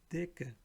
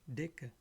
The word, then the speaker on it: Decke: Whenever C, K comes together, it will sound like K. Sika wird wie ein K ausgesprochen. Die Decke, Decke, meaning blanket.